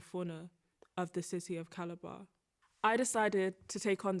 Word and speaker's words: Calabar: caliber in nigeria yes do i pronounce it right is it caliber calabar calabar so will your architectural